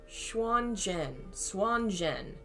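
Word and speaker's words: Xuan Zhen: Oh my god, it's pronounced like Jen? Oh no, this is going to be so hard. Xuan Jen.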